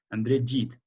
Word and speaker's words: André Gide: Se escribe André Gide, pero se lee André Gide.